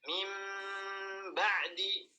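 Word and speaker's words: مِنْ بَعْدِ: Cara bacanya adalah kita merubah nun menjadi mim, kemudian digunnahkan mim, masukkan ke hidung, ditahan ya 2 harakat, mim ba'di, mim ba'di, kemudian 2 bibirnya dirapatkan mim ba'di.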